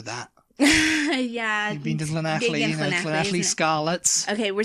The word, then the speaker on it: Llanelli: You say most English people pronounce it like Llanelli.